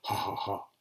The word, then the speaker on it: HHA: Je signe mes romans du pseudonyme HHA parce que je trouve que ça fait farce en allemand, ça se prononce ha ha ha.